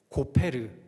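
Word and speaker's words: גֹּפֶר: 고페르. 역청의 히브리어 발음이 뭐냐면요, 코페르입니다.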